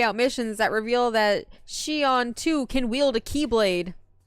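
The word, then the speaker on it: Xion: Zion you're thinking of is it xon I think it's pronounced Zion but I feel like that's wrong Peppers W no Shion okay y okay she on it's the only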